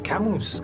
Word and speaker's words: Camus: a ser debe de aprender a pronunciar camus que es en francés y 9 falla de